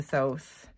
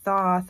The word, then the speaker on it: Thoth: point I start saying Thoth, and I'm not trying to be pretentious. It's just, I always used to pronounce it Thoth, but it's more common that I hear people pronounce it Thoth.